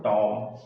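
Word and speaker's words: tomb: exam में क्या है टॉम तो बी अंत में है और बी के पहले क्या ए रहा है एम ए रहा है इसलिए बी का उच्चारण नहीं किया जा रहा है तो इसको आप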